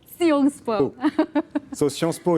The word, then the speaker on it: Sciences Po: Is it Siampo, Sciences PO, or Siampo? Can you approximately, roughly, we say Sciences Po. Sciences Po. So Sciences Po, it's political science, but